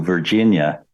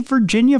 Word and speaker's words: Virginia: how do you say Virginia properly it's not Virginia Virginia there's there's there's emphasis on the Gin Virginia Virginia yeah that's